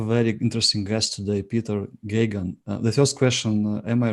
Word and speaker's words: Geoghegan: yes it's actually uh just a matter of ignoring the spelling which which uh is very counterintuitive and uh it's just gagan it's what I used to say to people is it rhymes with Ronald Reagan uh I guess I